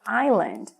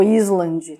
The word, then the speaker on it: island: não é acontece que a gente não pronuncia esse S dessas palavras o s aqui vai ser mudo então no caso da